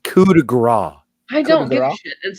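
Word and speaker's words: coup de grâce: it what it is it's pronounced coup de gras I don't watch it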